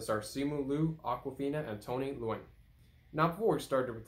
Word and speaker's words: Tony Leung: This one came out on Friday and was directed by Destin Daniel Cretton and stars Simu Liu, Awkwafina, and Tony Leung.